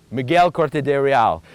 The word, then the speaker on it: Miguel Corte-Real: say the exact exact way Dario thank you Miguel corte-real I appreciate that so now we come to the Dighton Rock Museum 15:11 according to dr. Silva's theory is when Miguel corte-real came here and was mark the rock if